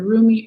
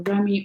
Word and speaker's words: Rumi: So your last oracle message here, Gemini, is from the Rumi or Remy oracle deck, depending on how you pronounce it, by Elena Fairchild. And so Rumi, that's how I pronounce it anyway.